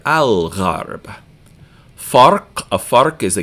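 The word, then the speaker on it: الغرب: So since ghain is pronounced in the back of your mouth, we're going to hear al-gharb.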